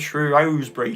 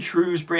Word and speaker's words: Shrewsbury: which Earl of Shrewsbury Shrewsbury however you want to say it I say rose because that's how it's said in the pre-show but I know a lot of people who live there say in Shrewsbury so I don't know